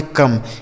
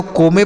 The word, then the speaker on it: come: ठीक है, C से का, O का उच्चारण आ होगा और ME से माँ, इसे पढ़ेंगे कम। इसे ना तो को में पढ़ना है ना तो सो में।